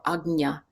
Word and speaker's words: Ajna: Yeah, Ajna. Okay, third eye, yes, is the English translation, or Ajna, Ajna, or Agnya is kind of the more proper pronunciation.